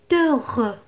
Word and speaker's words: heureux: mise en il est heureux il est heureux je fais la liaison le hb dans ce cas est muet de l'herbe de l'air